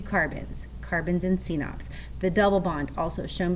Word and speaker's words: CNOPS: It's CNOPS, pronounce it C-NOPS.